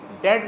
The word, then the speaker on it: debt: इफ़ you have any डाउट, डेट में भी B silent रहता है, DEBT, डेट।